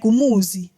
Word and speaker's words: Muzi: And your dad would be so confused as to what's so hard about pronouncing the Z in in my name. Like, Muzi.